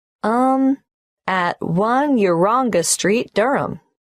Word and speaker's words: Durham: how do you spell Durham d u r h a m of course I should know that but it's just one of those names that sounds quite different from the way you spell it it is confusing I've